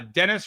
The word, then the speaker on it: Dennis: Uh, Dennis rhymes with tennis.